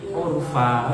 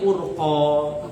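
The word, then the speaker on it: عرفا: Ayat pertama kan wal mursalati urfa kan itu kan. Dia itu bacanya wal mursalati urqa. Fa-nya itu dikira 2 titik.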